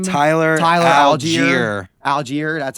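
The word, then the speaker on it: Allgeier: how do you say his name tyler tyler algiere algier that's how you say so i will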